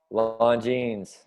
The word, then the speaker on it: Longines: Pronounce this watch company for me, Brent. Longines.